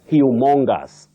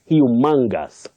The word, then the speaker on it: humongous: do you say it I know many people have innocently said humongous humongous no you say humongous humongous this word means very